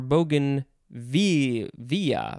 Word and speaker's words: bougainvillea: have a fun one bougainvillea bougainvillea or bougainvillea or bogan v via bougainville b-o-u-g-a-i-n-v-i-l-l-e-a you could